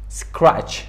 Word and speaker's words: scratch: Before CH تلفظ نمیشه قبل CH. Example مثال scratch, scratch یک چیزی که از خیلی ابتدا شروع میشه و scratch میگه, از ابتدا کار شروع میکنیم.